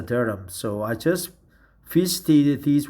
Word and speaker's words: Durham: the city of Durham I thought Durham but actually it is pronounced as a Durham so I just visited